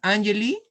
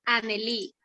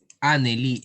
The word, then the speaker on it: Anneli: ¿Es Angeli? ¿Sí, hijita? A ver si me ayudas a pronunciar. Es Anneli. Anneli, ya está, ya ves.